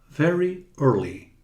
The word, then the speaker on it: early: Vejam que o Y final é sempre bem pronunciado. Very early. Ele nunca é mudo. Mudo é o E.